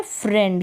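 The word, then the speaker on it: friend: और यहाँ पर जैसे ये है फ्रेंड, क्या है, फ्रेंड, यहाँ पर जो है ये जो आई ई है इसको ए के रूप में प्रोनाउंस कर दिया है, तो ऐसे आपको प्रैक्टिस करनी है।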